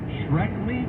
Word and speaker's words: Shkreli: Okay, from a month ago, Tucker was sitting down with that Martin Shkreli guy, I think that's how you say it.